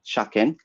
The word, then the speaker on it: shaken: Road Transport Vehicle Act stipulates a type of technical inspection known as shaken, which is spelled as shaken, but not the past participle of shaken English, which is mandatory to take every 2 or 3 years.